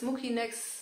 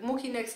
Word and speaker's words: Mucinex: Diese Mucinex gibt es und ich glaube, die heißt auch richtig ausgesprochen Mucinex, aber ich habe es mir angewöhnt und es ist mir jetzt zu anstrengend, das zu ändern. Also ich sage Mucinex.